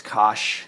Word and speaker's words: cosh: this is called the hyperbolic cosine which people pronounce cosh because that's what looks like however hyperbolic sine